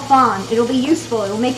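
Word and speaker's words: fond: Because we don't pronounce the D. So it's fawn, F-O-N-D.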